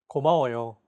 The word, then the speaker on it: 고마워요: 고마워요. 고마워요. Each syllable is pronounced for an equal amount of time.